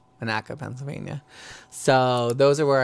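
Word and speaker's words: Monaca: in Sharon Pennsylvania Sharon Pennsylvania and it's not Monica it's pronounced Manaka Manaka Pennsylvania so those are where I'm at oh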